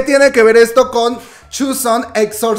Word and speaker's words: Joseon: va dejar su instagram de cómo se pronuncia yo sé on porque yo lo pronunciaba como yo soy yo son y no se pronuncia sus son se me hizo muy